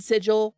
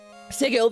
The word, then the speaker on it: Sigil: the center in it's I said sigil for the longest time I was corrected by Chris Perkins it's sigle it's a hard G it's actually true um sigle the city of Doris